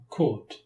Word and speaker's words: caught: In the past simple, GH is silent.